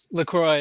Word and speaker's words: LaCroix: LaCroix, yeah.